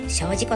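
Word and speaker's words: 精進湖: 精進湖って書いて精進湖と読みます。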